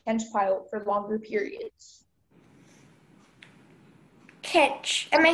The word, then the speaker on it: kench: Kench.